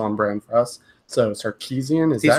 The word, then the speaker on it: Sarkisian: So Sarkisian, is that how you pronounce it?